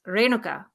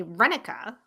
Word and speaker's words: Renuka: that renuka okay so the proper Indian pronunciation is Ruka Ruka but everyone in school called me Rena and then sometime in